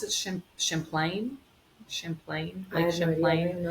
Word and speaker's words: Champlain: Do you pronounce it? Champlain.